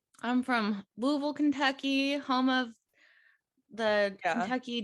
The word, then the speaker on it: Louisville: did you know that natives pronounce it louisville i did not know